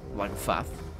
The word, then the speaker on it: Lagofath: Lagofath. That's how it's pronounced.